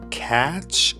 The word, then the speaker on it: catch: Catch a movie. T is not pronounced.